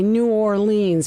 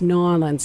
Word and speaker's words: New Orleans: Up here we say New Orleans, but it's New Orleans. It's sort of run together.